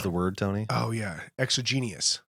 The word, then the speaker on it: exogenous: oh yeah, exogenous. Exogenous? Exogenous. I was right. I just wasn't Yes. pronouncing it right. Exogenous.